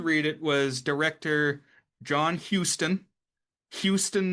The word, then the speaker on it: Huston: the podcast, we said Huston. Classic. There's no O. It's just Hus. Right. Houston, the city is HOU. But so that's what threw us off. But I guess it's the same pronunciation.